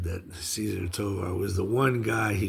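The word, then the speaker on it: César Tovar: And hey, here's one of Cesar Tovar. I guess the correct Spanish pronunciation would be Cesar Tovar.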